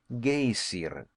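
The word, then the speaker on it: Geyser: high above the waters the gazer of a word the icelanders pronounced gayer and which signifies Fury Rose majestically from its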